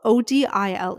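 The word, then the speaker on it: Odile: past and future um so 16-year-old OD odil OD i l e that's how you spell it we're just going to call we're going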